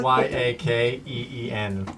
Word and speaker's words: Yeqiin: Yeah, I had Well- YAKEEN.